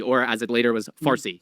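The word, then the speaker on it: فارسی: Parsy or as it later was Farsy because the Arabs could not pronounce the P so it became far.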